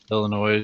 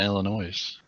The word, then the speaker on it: Illinois: s indiana boys know how to say Illinois Illinois its Illinois I know I call it Ella noise that's so wrong Illinois like people mispronouncing mackinaw